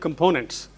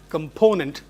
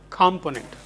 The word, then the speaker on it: component: English, usually you have different components. Oh, that reminds me again. You have to pronounce this word as component and not component. Component, stress on p. Component. Need not component.